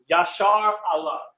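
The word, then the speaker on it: ישראל: If we were to go over the first nation there, it would be Israel, or in the ancient Hebrew, Yashar Allah.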